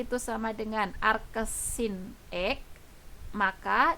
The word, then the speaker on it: arcsin x: Arcus sin X. Ini dibacanya, sekali lagi saya tekankan, ini bacanya arcus sin X. Bukan sin pangkat min 1 ya, tapi ini dibacanya adalah arcus sin X.